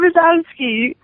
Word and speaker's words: Brzozowski: like, as we welcome in Ramapo senior Brzozowski. I even know how to say her name, right? Yeah, no, it's Brzozowski.